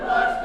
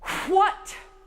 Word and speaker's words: what: What? I've got to hear that H at the beginning or it sounds like watt, like a light bulb, okay?